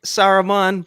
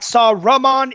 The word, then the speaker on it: Saruman: I was thinking Saruman, but I wrote Sauron by accident.